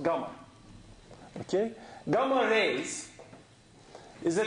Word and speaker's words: gamma: this symbol is the Greek letter G it's pronounced gamma okay GMA Rays is a kind of electromagnetic